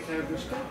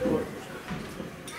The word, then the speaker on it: Korobushka: like to hear the Karabushka? Hey. They all care for the Karabushka. I think it's pronounced Korobushka. I don't know. Korobushka. I've been told it's Korobushka.